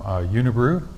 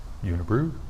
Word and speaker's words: Unibroue: this is done debut from unibru which Rhymes unibru don't they do and this is Fred